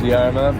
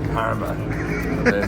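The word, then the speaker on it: Jarama: It's spelled jarma, but I presume it was yarma, but I think it's karma.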